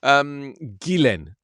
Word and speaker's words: Ghislaine: Ghislaine, there you go.